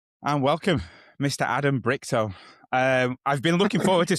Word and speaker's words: Brichto: Adam Brichto. I've been looking forward to speaking to you. I got the pronunciation right as well, which made me think of Bricktop when you sent it through.